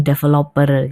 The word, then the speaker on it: develop: Ya, seringki orang mengucapkannya develop. Mungkin karena kita suka kalau di Indonesia kita bilang developer gitu ya. Tapi yang betul adalah develop. Develop.